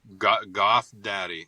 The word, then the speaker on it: GVTH DVDDY: How do members of the band pronounce the band name? I think you answered that, but give it to me again. Goth Daddy.